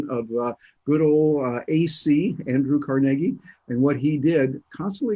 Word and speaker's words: Carnegie: heroes in life is Andrew Carnegie pronounced that way Carnegie as the Scottish would he was one of